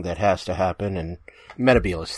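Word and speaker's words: Metebelis: has to happen and Mehta Beale is 3 is how it's actually pronounced to me I'm only saying meticulous because uh there was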